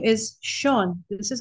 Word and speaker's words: Sean: It is typically Sean, but it's spelled, and it's one of those silly things that, idiosyncrasies of language.